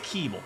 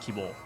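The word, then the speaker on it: K1-B0: for the spelling but i think it's kibble not keyboard then at least put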